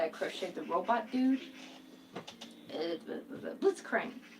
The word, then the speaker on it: Blitzcrank: crocheted the robot dude blitzcrank i want to say blizzcronk because you know like that's how you say it in german but apparently in english i know everybody's screaming